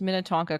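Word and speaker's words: Minnetonka: title of the um email was you totally pronounced minetonka correctly with a double exclamation point it's a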